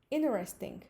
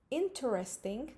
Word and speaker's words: interesting: en rating y probablemente escucharon que no pronunció una letra esa letra fue la letra t escuchen en rating porque porque habíamos visto ya en varias lecciones que la combinación en ete seguido de sonido de vocal nos da una te muda no es mandatorio que la tea sea muda pero si es común en la pronunciación de inglés norteamericano que en lugar de decir interesting digamos en rating como la palabra internet